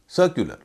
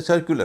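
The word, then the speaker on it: circular: सर्कुलर, इसे सर्कुलर कहते हैं, सर्कुलर नहीं कहते, क्योंकि यू से पहले सी है, उसी का उच्चारण होता क जोशीले चार में नहीं है इसलिए यहाँ पर यू का यह वाला उच्चारण होगा, सर्कुलर।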